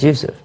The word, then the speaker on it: Yusuf: is what youf right my name is Yousef but when they translate it to English they go which becomes yes but actually it's old Hebrew name this is not Arabic yeah Yousef is not Arabic Yousef